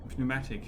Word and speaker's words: pneumatic: any items in your pneumatic pneumatic is it p pneumatic or is it just pneumatic we learn we learn how to pronounce that now do that pneumatic probably pneumatic pneumatic yeah the p silent pneumatic pneumatic pneumatics as